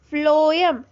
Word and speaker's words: phloem: ठीक है, फ्लोएम, फ्लोएम pronunciation करो, फ्लोएम, फ से आ रहा है ना, फ से फ्लोएम, फ से फूड, मतलब